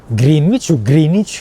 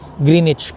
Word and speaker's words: Greenwich: Greenich o ewan ko kung paano siya i-pronounce.